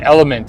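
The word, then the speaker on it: LMNT: in water it's called element it's the the letters l m n t element is how they pronounce it makes sense but damn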